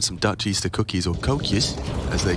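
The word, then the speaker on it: koekje: it's close and some dutch easter cookies or cocuz as they call them okay that all right okays is that how they pronounce it yeah it's like k-o-e-k-j-e tokyo fair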